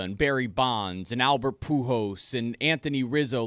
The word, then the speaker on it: Pujols: Albert Pujols.